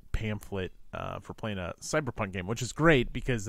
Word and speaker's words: CBR PK: rules light game and it's spelled like cyberpunk without the vowels so CBR PK core uh it was a